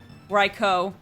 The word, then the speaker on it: Raikou: interesting for early game at least up there's raikou raikou excuse me on my main channel i did